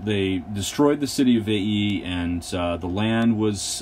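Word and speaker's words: Veii: and this was the city of vaii um you have to pronounce both of those eyes uh um and the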